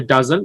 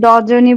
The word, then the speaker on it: dozen: তো উচ্চারণটা আমরা হবে ডাজন, বাট আমরা বলতাম কি? আপনি কি বলতেন মিম, বলেন তো? আমিও আগে ডজনই বলতাম হুম, রাইট, আমরা সবাই ডজন বলতাম।